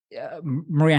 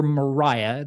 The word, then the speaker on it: Maria: Maria Halpin or Mariah, there's some question as to what the proper pronunciation would be in the era.